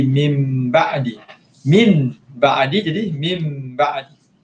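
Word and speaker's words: مِنْ بَعْدِ: Nun mati bertemu dengan ba, hukumnya ikhlab. Ikhlab, cara bacaan dia adalah dengan menukarkan sebutan nun mati ataupun tanwin kepada huruf mim. Jadi min ba'di jadi mim ba'di.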